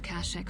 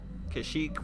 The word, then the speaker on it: Kashyyyk: So, for the longest time, I thought that Kashyyyk was pronounced Kashyyyk because of this game and other sources, but when Revenge of the Sith came out, they pronounced it Kashyyyk, and in all canon media, it's pronounced Kashyyyk.